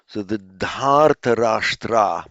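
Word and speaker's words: धार्तराष्ट्र: You make it by vridhi of the first syllable. So dri becomes dhar, dharta, and the rest remains the same. So the Dhartarashtra means those of, or the men of Dhritarashtra, the Dhritarashtrans.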